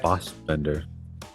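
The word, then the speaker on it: Fassbender: Uh, Kate Blanchett, Fosbender, that's how you pronounce.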